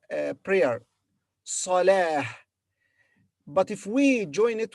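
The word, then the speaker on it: صلاة: But when we pause after it, it is replaced in pronunciation by ha. So here, when we read this word separately, we say salah, not ta, but ha, salah.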